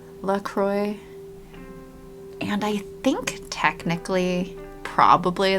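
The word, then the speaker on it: LaCroix: Yeah, they do say they pronounce it LROY and hope and helpfully mentions that it rhymes with enjoy.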